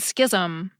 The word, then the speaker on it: schism: A few added an H after the SC and made it just sound like SK, schizophrenia and schism.